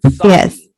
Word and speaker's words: Psaki: I think it's Psaki. Psaki. Yes. Psaki? No, the P is silent. Oh, Psaki.